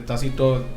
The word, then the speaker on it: Tácito: donde su mano recuerda este se pronuncia tácito así es como el